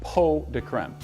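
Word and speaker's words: pots de crème: today we are going to be making chocolate po de creme it's spelled pots to creme but it's actually pronounced po de creme and it loosely translates to pots of cream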